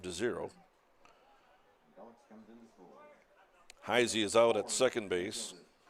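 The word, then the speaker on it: Heise: should say taton heisy heisy spells his name HEI SE pronounced heisy 31 pitches now for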